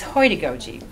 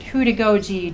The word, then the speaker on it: Heutagogy: And what I want to talk to you about is Heutagogy, which is an extension of andragogy, and it's self-determined learning.